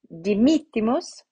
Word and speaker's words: dimittimus: the accent right so here we have the penultimate eye is short so we move up one to the anti-penultimate eye so dimittimus so first time it was the mitte and now it is dimitimus here the penultimate i